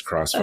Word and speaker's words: Crossfire: Thank you for saying that, because I always forget that XF is meant to be pronounced as Crossfire.